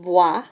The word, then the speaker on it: boit: And the forms of boire are je bois, tu bois, and again they're spelled the same. And then il, elle, on boit sounds the same but spelled a little bit differently, ending in a T.